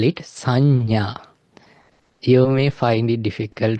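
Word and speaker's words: saññā: And then the fourth one, we call it sanya. You may find it difficult to pronounce. Sanya. give it a try. Like it's like SA double NA, Sanna. It's not like to the up N.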